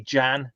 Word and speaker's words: Jan: as myself, but as Jan Lamona. Jan Lamona was my fanfic character, and so there's Jan Lamona. So anybody who doesn't know Jan wouldn't know that the J is pronounced as a Y.